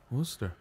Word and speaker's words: Worcester: How do you say that? Is it Worcester? Worcester. All right. That's how you say it. And the same way you say Worcestershire. It's Worcestershire sauce.